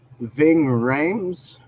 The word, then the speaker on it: Ving Rhames: So, and then you got Ving Rhames, the black guy. I don't know how to pronounce his name.